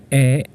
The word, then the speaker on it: へ: commonly pronounced as o e sounds like e as an e but this is uh in Roman or gothic writing spelled as h e this is h e